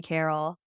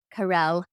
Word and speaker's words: Carel: me is on LinkedIn it's just said Carol Carell see now so many people mispronounce my name that I actually mispronounce it